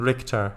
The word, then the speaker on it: Richter: Pronunciation Richter.